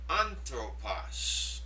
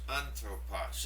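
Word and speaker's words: ἄνθρωπος: Anthropos. This is a word that means man. Now, you'll notice this word has a smooth breathing and an accent over the first syllable. And that gets the stress. Anthropos.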